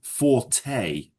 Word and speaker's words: forte: anxiety, No, anxiety is worry for the future. Fort. Yes, but it's pronounced forte. Forte. Yeah? It's a French word, forte.